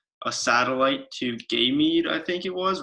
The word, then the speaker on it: Ganymede: It's pronounced Ganymede.